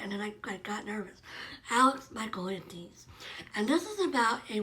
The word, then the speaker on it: Michaelides: Michaelides.